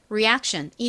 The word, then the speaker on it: reaction: 그래서이 단어를 읽어 보면 reaction이 되는 거죠. 자, 발음해 볼게요.